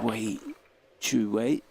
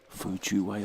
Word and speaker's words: 傅哲偉: We're right down the line of this with Wei Chu Wei. Fu Chu Wei, I beg your pardon.